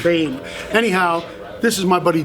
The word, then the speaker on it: Boehm: Hey everybody, I got my friend over here, Christian Boehm, and that's spelled B-O-E-H-M. And a few people who can't pronounce B-O-E-H-M, it's not Boehm, like I always say, it's Bame.